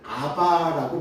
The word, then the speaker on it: 아빠: 옛 성경에는 이것을 아바라고 번역했습니다. 그래서 아바, 아버지 했다가 조금 더 일반적인 원 발음에 가깝게 하자 해서 아빠라고 했는데 보다 더 정확한 발음은요, 아의 비읍 받침 들어가고 바예요.